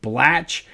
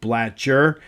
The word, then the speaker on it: Bler: Yesterday when we were talking about the the Lasal National Championship team in 1954, I mistakenly said Frank Blatch when in fact his name was Frank Bler.